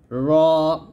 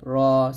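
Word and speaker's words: راء: গাণিতিক মান হচ্ছে 100 র এখানে রা বলা যাবে না বলতে হবে র র এর মান হচ্ছে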